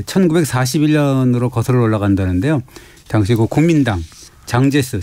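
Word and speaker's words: 蔣介石: 시작되는지부터 살펴볼까요 예 1941년으로 거슬러 올라간다는데요 당시 국민당 장제스 장재석 주석의 부인인 쑥 메이딩이라고 하는데 우리가 우리 발음은 송미령이라고 하죠 송 대박이 만들어지는데 그것이 워싱턴협약입니다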